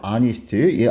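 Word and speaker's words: honest: 발음이 된다는 얘기입니다 알겠죠 여러분 어니스트 있죠 아니스트 아니 정직한 소년인데이 h가 발음이 안 되거든 알겠죠 알겠죠 그래서 얘도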